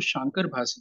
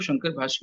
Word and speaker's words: शांकर भाष्य: किया है तो उसको शांकर भाष्य क्यों बोलते हैं? कई लोग शंकर भाष्य भी बोलते हैं, सही उच्चारण है शांकर भाष्य।